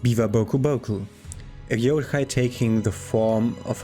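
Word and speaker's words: Biwa-bokuboku: me for a second the beaver boku boku pronounced biva boku boku akai taking the form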